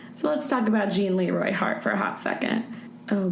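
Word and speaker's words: Gene Leroy Hart: On July 5th, a man that fit the description of Join. Why do I keep saying its name wrong? Jean Leroy Hart was spotted near the campsite.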